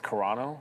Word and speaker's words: Carano: All right, so yeah, other than that, like Well, my thing I said Serrano, it's Carano. I can't pronounce her yeah, I know.